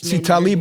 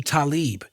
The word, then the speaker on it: Talib: say his name right he started call me talib because that's the proper muslim pronunciation for it so that became what